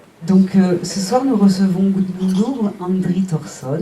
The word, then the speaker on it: Guðmundur: Donc ce soir nous recevons Gudmundur Andri Thorsson, je prononce à peu près à la française. C'est bien. Gudmundur.